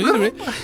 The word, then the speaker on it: Itoi: Shigesato Itoi. Yeah, I was like, oh, all right. I was pronouncing it wrong the whole time, I guess.